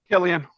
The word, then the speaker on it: Cillian: Javi, how do you say his name? Cillian or Cillian Murphy? Killian. That's what I thought.